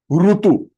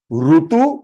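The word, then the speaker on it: ऋतु: Rutu. Rutu, season. Climate, season. Rutu. And other is Ru, Rushi. Rutu and Rushi.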